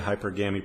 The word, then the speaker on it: hypergamy: Hypergamy. Hypergami. Pronounce it any way you want.